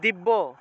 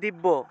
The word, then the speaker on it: দিব্য: মনে করেন যে দিব্য, বাংলায় বললে দিব্য, কিন্তু সংস্কৃত উচ্চারণটা হবে দিব্যা, দিব্যা, এইভাবে ইয় উচ্চারণটা আসবে, জফলার পরিবর্তে ইয় উচ্চারণটা আসবে, তাহলে দিব্যা।